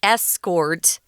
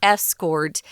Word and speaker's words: escort: say it that way so the noun form would be escort and the verb escort um but probably some people out there pronouncing the verb the same as the noun so if you escort